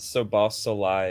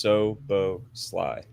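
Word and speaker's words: Szoboszlai: pronounce Dom's name correctly it's not it's not so soai it's just Soo Sly three yeah soos got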